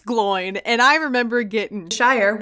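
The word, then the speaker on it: Glóin: fellowship of the ring i can confirm it's pronounced gloin we were right i think that's what we settled on in our chapter discussion and it's glowing and i remember getting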